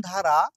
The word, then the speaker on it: the: যেটা সি অর্থাৎ consonant sound দ্বারা শুরু হয়েছে। এজন্য টিএইচই এর উচ্চারণ হবে দা।